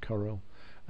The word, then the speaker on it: Corel: at in the beginning the Corel the choral site or Corel some people pronounce it Corel this is paint shop